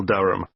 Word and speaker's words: Durham: How do you spell Durham? Durham. Of course, I should know that. But it's just one of those names that sounds quite different from the way you spell it.